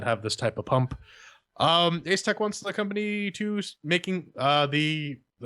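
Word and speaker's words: Asetek: Apparently, Cooler Master is infringing on something of a patent from Ace Tech, not Asus Tech, because it just gets really confusing when you say it like that.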